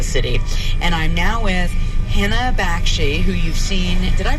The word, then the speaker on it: Henna Bakshi: And I'm now with Henna Bakshi, who you've seen. Did I pronounce that right?